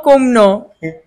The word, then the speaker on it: kumno: Filong kumno. Pilong kumno. Okay. How are you? Pilong kumno. You pronounce it wrong. You're laughing, huh? Once again, say. Bilong komnu. Kumno. K-U-M. Kum.